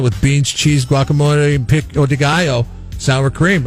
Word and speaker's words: pico de gallo: Choice of beef, chicken, or asada with beans, cheese, guacamole, and pico de gallo.